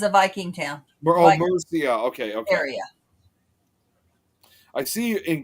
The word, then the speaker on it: Mercia: There's a part of the country where it says Mercia. Yeah. Mercy. It almost like it's spelled.